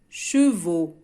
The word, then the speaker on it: chevaux: Le pluriel, chevaux. Donc c'est un pluriel irrégulier. Cheval, لا أضيف الأس وإنما le pluriel chevaux. Chevaux, je mets le X mais je ne le prononce pas.